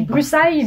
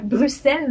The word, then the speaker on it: Bruxelles: Et mon dernier, que j'ai malencontreusement appelé Bruxelles, mais en fait c'est Bruxelles, il faut le prononcer, parce que c'est la ville de la Belgique qu'on connaît tous, donc la capitale Bruxelles.